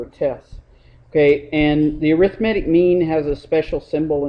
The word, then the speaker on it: arithmetic: okay and the uh arithmetic mean looks like arithmetic but pronounce it arithmetic the arithmetic mean uh